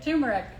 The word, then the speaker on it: turmeric: did i okay how do you say it turmeric turmeric turmeric i love your green curry green